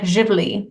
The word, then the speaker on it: Zivli: It's like Zivli, and that's how it's pronounced.